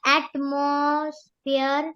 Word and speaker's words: atmosphere: pronounce it in Tamil the o is not o in this case it's pronounced like almost like ah and must be atmosphere